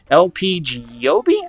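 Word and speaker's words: LP Giobbi: recently heard about today lpg yobe i believe is how you say her name and she's pretty dope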